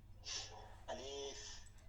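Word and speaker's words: ألف: ঠিক আছে আরবি হরফের গুলো জি দিতেছি আলিফ আলিফ আলিফে টান দেয়া যাবে না আলিফ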